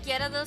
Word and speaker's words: Gyarados: We just emphasize the ga, like the ja, ja, Gyarados.